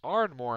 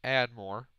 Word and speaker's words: Ardmore: Patrick music is from it's Ardmore Alabama no idea why I thought it was add more must have just not seen that letter by mistake I'm very